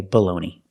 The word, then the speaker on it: bologna: I know in Italian it's bologna, but this is not Italy, this is America, we say baloney.